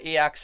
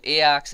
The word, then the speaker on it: AJAX: is because it's under ax security or Ajax if you might pronounce it that way so in this is